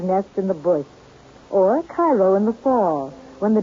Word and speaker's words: Cairo: Oddly enough, though, Illinois is sometimes referred to as Egypt because the fertility of the soil in and around Cairo, or Cairo giving it the Illinois pronunciation, resembles that of its Egyptian namesake.